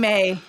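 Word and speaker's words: Mai: Tye okay Ty and may is it may or may it is May it's spelled like my to us but it's pronounced May that's why I always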